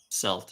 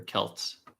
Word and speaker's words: Celt: M uh it feels like he would have played Selt if he or Kelt, you want to pronounce it, if he had seen